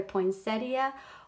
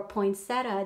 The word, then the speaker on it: poinsettia: learned from my subbies it can be pronounced either poinsettia or poinsettia depending on where you're from so I love these